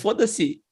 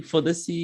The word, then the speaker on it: foda-se: Foda-se. I think it's foda-se. Foda-se is FODA hyphen SE.